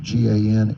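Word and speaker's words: Gansevoort: Grant Cottage National Historic Landmark in Gransvoort, New York. You can pronounce it Gansevort, New York.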